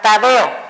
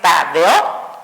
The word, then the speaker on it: Tadeo: Tenemos, por ejemplo, la palabra Tadeo. No es Tadeo, sino es Tadeo. Cumple la regla de los hiatos simples, por lo tanto, separa vocales fuertes.